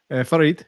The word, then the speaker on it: Farid: Farid says, is Farid how you say it, J. Mackey? Farid, yep. Farid.